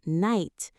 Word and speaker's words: night: English has many like night, right, some subtle, honest. These letters are not pronounced but affect spelling.